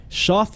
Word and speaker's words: Schaft: Shaft Robotics is a bipedal robot, and you got to Google this right now. Shaft is spelled Schaft, and when I saw